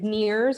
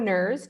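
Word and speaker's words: NERRS: estuarine research reserve system affectionately we refer to it as nears or nerves depending on how you like to pronounce the acronym but these are a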